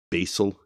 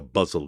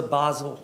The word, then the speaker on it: basal: He says it like a buzzle instinct that rhymes with puzzle. She's like, "Yeah, I don't know what that is." [clears throat and cough] What is a Basel instinct?